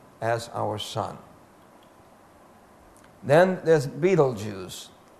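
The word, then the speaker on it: Betelgeuse: times as bright as our sun then there's Beetle Juice pronounced Beetle Juice spelled belese Beetle Juice gigantic star in the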